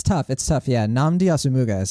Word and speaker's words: Nnamdi Asomugha: Yeah, Nnamdi Asomugha is how I say it.